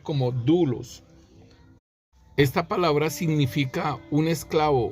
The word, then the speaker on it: doulos: como duros si se escriben doulos pero se pronuncia como duros esta palabra significa un esclavo un siervo si